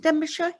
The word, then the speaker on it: Denbighshire: And we had a message from Nicholas, that's Denbighshire, I think, do you pronounce it Denbighshire?